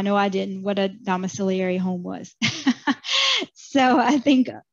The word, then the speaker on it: domiciliary: um in the e m section so the domiciliary that's how you pronounce it our rest home CPT codes 99334